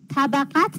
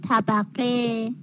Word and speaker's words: طبقه: ش چ تقت است طبقت اشتباهه آقای عقیل عقیل عقیل علی علی علی اش اش طبقت خطا تلفظ صحیح طبقه خب از اول آقای